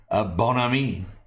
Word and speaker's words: Bon Ami: Archmage Frey, just liking the cleaning product Bon Ami. They officially pronounce it Bon Ami. Kind of like you would assume Brad Pitt from Inglourious Bastards would say it.